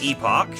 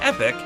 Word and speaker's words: Epoch: they said um we pronounce it Epoch and uh we use it as right it's it's part of the Game's name so it's a name it's a proper noun and proper nouns you can pronounce any way you want so that's what we chose but if you want to pronounce it epic that's fine too right so like they